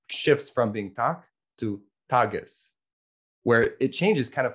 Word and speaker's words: Tag: And it's spelled with letters, it's spelled T-A-G, but it's pronounced Tag.